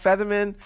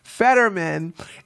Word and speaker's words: Fetterman: now it seems that featherman let me stop saying featherman because now I'm not pronouncing his name right fedman is distancing himself from